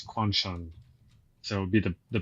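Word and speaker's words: Quansheng: It's not Quan Shang, it's Quan Shun.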